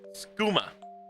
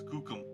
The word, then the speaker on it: skookum: And then we got Skuma from the Chinook Jargon. That is not how you pronounce it, Derpies. Skuma. It's Skookum.